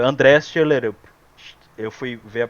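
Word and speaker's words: Schjelderup: É André Shelerup. Eu fui ver a pronúncia como é que é, Shelderup, mas ele pronúncia Shelderup, meio que sem o D.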